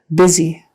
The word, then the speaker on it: busy: z busy make sure it's a z and it doesn't sound like byy because that's not a word busy busy I am so